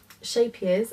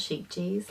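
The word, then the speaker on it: Scheepjes: it was amazing so it's a shape years apparently that's how you say it so that's the honeybee blanket by um shapiro's not sheep cheese like i say it and yeah it needed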